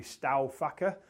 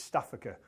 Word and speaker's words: Staufacher: His name is spelled Staufacher, and when you look at that, it should be Staufacher. But speaking with Luke, the moment he got off the plane in Manchester, he confirmed it's Staffacher, and that's how he'll